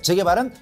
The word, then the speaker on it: 재개발: 주거환경 개선사업이 재계발이다 재개발이다 발음 잘하셔야 돼요 그냥 재개발 이렇게 해야지 제 개발이다 개발이다 예 족구할 때 개발이다 자 이거 아니에요 그다음에 재건축은 정비 기반 소리